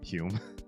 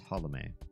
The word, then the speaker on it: Holome: It's pronounced Holome with a slight skip in your step between the L and the M. It's not Holme, actually. I say Holme just because it's born in the US, but it's Holome, if I'm saying it right.